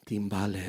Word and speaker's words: timbales: You're pronouncing them as timbales. Is that what gives the credibility? Because you can roll your R's.